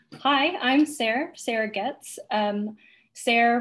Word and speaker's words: Sarah: Sarah rhymes with stare or there.